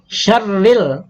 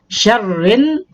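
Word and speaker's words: شَرٍّ: Dan alif lamnya tidak dibaca. Sehingga bunyinya bukan syarril, nah, bukan. Tapi langsung ke nun. Alif lamnya ada, tapi dianggap tidak ada. Tidak dibaca dia. Syarrin, nah, itu bacanya.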